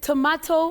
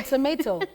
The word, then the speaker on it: tomato: Is it tomato or tomato? That's all right. Oh, that's a very good one. Now, for tomato, the British pronunciation, what we call RP, received pronunciation, you say tomato.